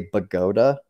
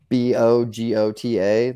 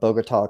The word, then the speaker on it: Bogota: for is a type of lockpick called a pagoda pick b-o-g-o-t-a like the Bogota Colombia okay so you want the Pagoda type